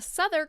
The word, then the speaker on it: Southwark: like you say it because i'm going to pronounce things wrong the southern cathedral spelt southwark i'm glad that i looked